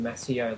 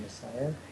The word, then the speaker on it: Maseo: I think I was pronouncing it Maseo last time I mentioned his name, but it's actually Maseo.